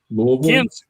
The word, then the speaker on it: Louisville: Louisville? Ken says Louisville right. Yeah.